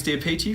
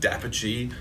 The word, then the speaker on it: d'Apice: I'm sorry, Dapici. I'm so sorry, Makinson Dapici.